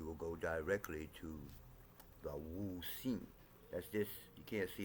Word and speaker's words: Wu Xing: It's also spelled with an H sometimes. Wu Xing. So Wu Xing with an X.